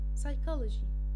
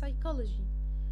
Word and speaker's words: psychology: قاعدتنا بتقول P isn't pronounced if it's followed by the letter N, the letter S, or the letter T.